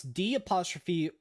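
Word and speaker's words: D'Orazio: She met with Okay, how do you pronounce D''Orazio? Orazio, like Dorazio. Dorazio. It's like Italian.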